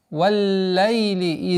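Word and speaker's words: وَاللَّيْلِ: «Валлайли иза ягша». «Валлайли». Удваиваем лям с звука фатхи у буквы вау. Вал, нет. Вал. Вау, звук мягкий.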